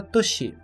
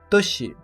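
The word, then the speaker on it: 年: A primeira leitura desse kanji é a leitura Toshi, Toshi, que significa a palavra ano de modo geral. Sempre que for falar do ano sem citar a quantidade, falamos Toshi.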